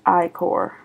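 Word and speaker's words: ichor: fill it with magical i-core that's pronounced i-core choose your i-4 wisely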